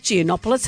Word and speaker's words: Giannopoulos: Joining us now, Nick Geonopoulos. Hello, Yasu. Good. Good morning, Yas. How are you? Great. Beautiful pronunciation of my name.